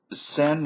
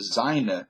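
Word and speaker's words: Seine: Renee but the actual Left Bank of the sen River now I was used to pronounce the send the z river because it's spelled exactly like a German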